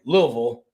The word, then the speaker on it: Louisville: So back in 2018 in between the years 2018 and 2023, um the Louisville Louisville has a uh I'm sorry, Louisville, that's how they say it down there.